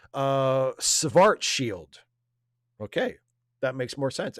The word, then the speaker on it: Schwarzschild: And Caitlin says, fun fact, it's pronounced Schwarzschild.